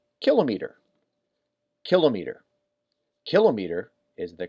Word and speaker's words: kilometer: The problem is when we get to this one, km, apparently instead of saying kilometer, they say kilometer.